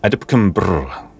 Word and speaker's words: AdLib: That's how it's officially pronounced, okay? I'm not making any of this up. AdLib.